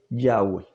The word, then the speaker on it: Yahweh: referencia al tetragramatón dice la verdadera pronunciación del nombre y hwh nunca se perdió varios escritores griegos tempranos de la iglesia cristiana testifican que el nombre era pronunciado yagüe esto es confirmado al